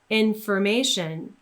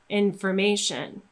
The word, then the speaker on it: information: So in words like comfort or information, we simply get rid of that letter O, we don't pronounce it at all, and we go straight from one consonant into the sound.